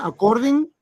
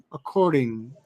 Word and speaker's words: according: Ahora, como ellos lo pronuncian es according. Yo sé que a veces According. Sí, como una R. Así mismo. Es una D que la hacen sonar como una R en nuestros oídos.